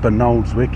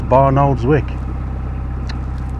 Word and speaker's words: Barnoldswick: by locals it's folbridge and bernoldswick he's not benold's Wick it's barnoldswick so I have been